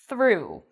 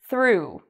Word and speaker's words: through: and that's the word through through so notice how i'm pronouncing o-u-g-h in this word it's like an u sound through it rhymes with you through and it's like the o in boot through so um sometimes